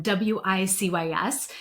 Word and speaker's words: WiCyS: So, Women in Cyber Security, we often go by our acronym WICS and we pronounce it like we sisters because that's exactly what we are.